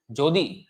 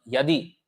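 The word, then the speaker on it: যদি: Jadi kore, jo, jodi. It's not yadi, jodi.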